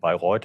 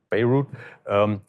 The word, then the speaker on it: Bayreuth: In Germany, you pronounce it Bayreuth and not Beirut.